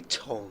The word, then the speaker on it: Tongue: and he got um and we see Tong. Yes. Yeah. Josh Tong. Yes. Tong. Okay. Cuz it's spelled tongue, is it not?